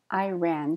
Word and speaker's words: Iran: adventurous chic chic Iran Iran stress at the end Iran here's some phrasal verbs